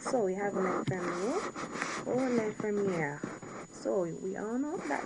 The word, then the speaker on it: l'infirmière: So l'infirmier, l'infirmier, without the E, would be the male nurse, and l'infirmière, where you pronounce the R, l'infirmière would be the female nurse.